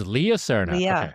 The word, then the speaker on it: Leah Cerna: how she know it is actually Leah Cerna. It's Leah Cerna. Yeah, she pronounces it the American way.